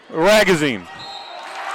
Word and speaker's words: Ragazine: on over to magazine ragazine and it's fouled and counted 32 I wrote on my notes that his name rhymes with magazine and I read the